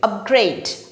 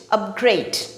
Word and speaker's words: upgrade: to their existing plan when this is used as a verb the stress falls on the last syllable gray upgrade upgrade for example your service